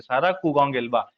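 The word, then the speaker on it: Saara Kuugongelwa: कु गंग इलवा सारा कु गंग इलवा आप इसका प्रोनंसिएशन ऐसे करेंगे सारा कु गंग एलवा ये यहां के क्या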